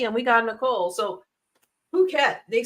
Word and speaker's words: Phuket: Yeah, and in Asia, they pronounce PH. It ain't an F sound. The P makes a P and the H makes H sound.